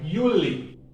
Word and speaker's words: Juli: And then July is pronounced the same Y, Juli.